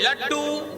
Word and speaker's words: لڈّو: यहाँ दाल के ऊपर तशदीद की एराब है।